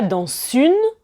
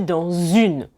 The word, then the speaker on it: dans une: Vous remarquez ici que je prononce en fait comme si c'était un Z. Je ne dis pas dans une, mais je dis dans une. Donc en fait, le S muet devient une forme de Z.